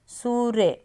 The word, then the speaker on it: सूर्य: तो बड़ा उ लगाएंगे सूर्य अब सूर्य जब बोलेंगे तो फिर आवाज टाइम लगा के उ की मात्रा को बोल रहे तो बेटा जहां पर